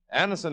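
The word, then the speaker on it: Anacin: Anison is spelled A N A C I N.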